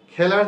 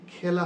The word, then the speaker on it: খেলা: যেমন খেলা, খেলার যে উচ্চারণ সেটি খেলা হবে না, হবে খেলা।